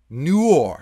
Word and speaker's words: noir: colorway the off noir am i pronouncing that right no noir it's a very fancy word i like that pair